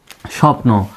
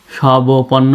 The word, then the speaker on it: স্বপ্ন: স এর নিচে বরা আমরা কি সব সব পর্ণ বলি সবপর্ণ তো বলি না অর্থাৎ এখানে বর উচ্চারণ নেই তাই যেটার উচ্চারণ নেই